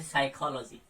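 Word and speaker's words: psychology: एच का तो कोई वो नहीं होता, जैसे साइकोलॉजी। तो यहाँ पे आपका पी जो है वो नहीं प्रोनाउंस हुआ है, इस तरीके से रहेगा।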